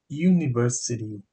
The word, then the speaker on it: university: A university. Pronunciamos I, university, com Y.